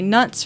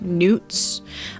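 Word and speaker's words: Knut: So I know in the fandom we usually just say nuts for these, but actually the spelling K-N-U-T is much closer to the Norse, the Nordic word. There was a king called Canute.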